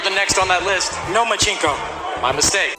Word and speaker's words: Lomachenko: I think you said his name wrong. It's Nomachenko, because he doesn't want to fight me.